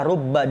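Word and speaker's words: رُبَّ: dimaksud di sini adalah rubba dengan mendomahkan R ingat rnya domma bukan fathah karena kalau rnya fathah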